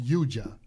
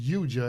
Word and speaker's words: yoga: standpoint, first of all, yoga is really pronounced yuja, I found out. And this is from a lady that grew up in India herself. It's pronounced yuja, and it means union, to yoke.